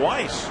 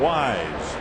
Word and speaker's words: Wise: And Dwayne Weise acknowledged, but the president mispronounced his last name. Called him Dwayne Weiss. Two and one to Dwayne Wise.